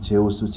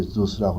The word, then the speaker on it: Zeus: 세우냐면 주스란 말은 영어에 Zeus라고 해가지고 우리 한국 사람들은 보통 제우스 그러지만은 영어 발음은 이제 주스라고 그러지만은 사도행전에 보면 수스라고 나왔어요.